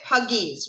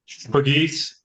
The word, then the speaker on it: Pagis: So you pronounce it Pagis, right? Pagis, yes.